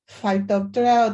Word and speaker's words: Phytophthora: How to pronounce? It is Phytophthora.